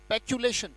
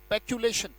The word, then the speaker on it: peculation: Right, so the word is पैक्यूलेशन, पैक्यूलेशन।